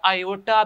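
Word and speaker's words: iota: Simple आप इसको बेटा आयोटा भी लिख सकते हैं। जो आई बेटा है इस आई को आप आयोटा भी कहते हैं बेटा, इसको प्रोनाउंस करें तो ये बेटा बनता है आयोटा, ठीक है, आयोटा।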